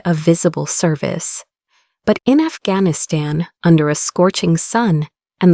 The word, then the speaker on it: Afghanistan: "It's pronounced Afghanistan."